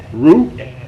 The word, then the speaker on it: Roux: Rue? How do you spell that? R-O-U-X. R-O-U-X. Just like the, can you make a roux?